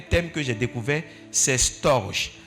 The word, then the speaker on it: storge: Un quatrième thème que j'ai découvert, c'est storge. Storge ou bien storge, ça s'écrit S-T-O-R-G-E.